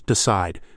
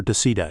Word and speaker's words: decide: Listeners, decide. Feel that push on the second part. It's not decide or decea. It's decide. That's the word stress.